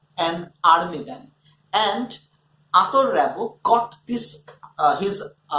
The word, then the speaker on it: Rimbaud: This is Arthur Rimbaud, not Arthur Rimbaud.